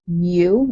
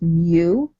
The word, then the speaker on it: mu: u is pronounced mu. It's a symbol, so it's mu.